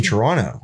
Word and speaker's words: Toronto: I say Toronto yes I pronounce the T at the end of Toronto which means I'm not from Toronto no but so 20